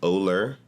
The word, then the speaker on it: OLUR: It's OLUR, and that's how you pronounce it, OLUR, like polar without the P, OLUR.